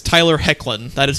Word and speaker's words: Hoechlin: It's Tyler Hoechlin. That is how you pronounce his name.